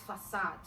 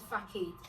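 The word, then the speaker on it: façade: That was when I found out that the word FACADE is facade, not facade.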